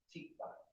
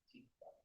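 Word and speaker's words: תקווה: Tikva is how it's pronounced. Tikva.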